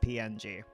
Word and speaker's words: PNG: I guess it's officially pronounced ping, more commonly pronounced PNG.